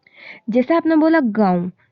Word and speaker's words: गाँव: नून silent होता है उसमें, गाँव में नून का नुक्ता